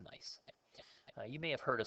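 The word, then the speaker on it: gneiss: slate shist and nice this is pronounced nice you may have heard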